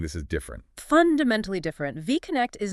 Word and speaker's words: VAConnect: This is where our case study, VAConnect again, that's pronounced VAConnect, comes into the picture.